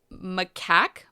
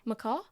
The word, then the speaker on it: macaque: He is a baby orphan macaque monkey. Macaw? No, that's a bird. No, I think it's pronounced macaque.